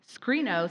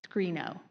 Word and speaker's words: Screeno: Played between feature movies on slow week nights, ScreenO saw its height of popularity during the 1930s when theaters used the game to increase attendance.